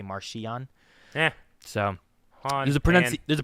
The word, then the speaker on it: Marchion: I saw there's confusion between the Marchion versus Markion. Apparently it's Markion, but the audiobooks always say Marchion.